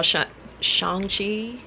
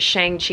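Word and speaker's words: Shang-Chi: i went and saw shangji i know i was calling it shang chi at first but then i watched the movie and he was pronouncing his name like shang and i'm like ah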